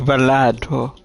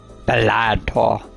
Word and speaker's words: Balatro: and welcome to Balatro. My bad. I didn't pronounce it right. Balatro.